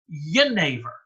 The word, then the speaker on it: genever: And originally in the Dutch language, it was spelled with a G sometime around 230 years ago. For reasons no one is very sure, they switched over to doing it with a ye. So if you ask a Dutch person like Odd now, they'll pronounce it Genever.